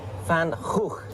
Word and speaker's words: Van Gogh: Theo van Gogh got brutally murdered for making what we just watched. That was too much for jihadis. Yeah. Van Gogh. Van Gogh.